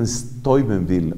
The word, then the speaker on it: Steubenville: lee estuve en ville eso como que lo pronuncian estoy vending o una cosa parecida la universidad norteamericana de